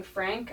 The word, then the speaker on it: Phranc: okay yes uh my name is frank with a ph in a hard c i'm your basic average